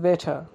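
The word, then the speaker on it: better: Which is বেটার, which is বেটার, which is বেটার। এখানে বেটার, বেটার উচ্চারণ না হয়ে এখানে উচ্চারণ হবে বেটা, কারণ ইয়ের পরে আর এর উচ্চারণ হয় না, কারণ ভাওয়ালের পরে যখন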